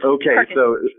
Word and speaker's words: Perkasie: Perkasie. I've never met somebody from outside of the area that can say it right, so it's Perkasie.